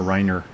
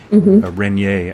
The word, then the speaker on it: Renier: uh Norine rer or Riner renier actually because I always say it wrong she is a um